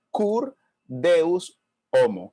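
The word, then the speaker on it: Cur Deus Homo: homo curt deus homo Y si usted lo pronuncia Conmigo puede practicar su latín Kurt deus homo que en latín o mejor dicho en español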